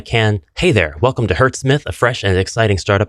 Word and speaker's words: HZSMITH: Link in description below hurt Smith that's how you say its name it's actually pretty badass name he's a Smith of Hertz that's the sound frequency that occurs whenever d